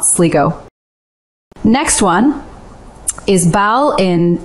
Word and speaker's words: Ballina: And now, this week's more frustrating foreign Irish pronunciation, cock-ups. First up, Sligo is Sligo, not Sligo. Next one is Bal in not Ballina.